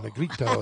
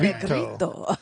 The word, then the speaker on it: Negrito: Negrito, that's how you say it? Like that. Negrito.